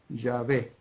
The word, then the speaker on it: Yahvé: Pero creo, por lo que vengo leyendo, vengo estudiando y vengo viendo, que lo más cercano para pronunciar esas 4 consonantes hebreas, Yod, Hei, Bab, Hei, es Yahvé.